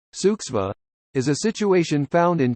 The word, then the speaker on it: Zugzwang: zugz Wang German 4 compulsion to move pronounced suksva is a situation found